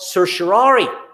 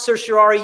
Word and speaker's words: certiorari: will, a catch-all known as the Writ of Certiorari. If you cannot pronounce that Latin word, Certiorari, you are not alone.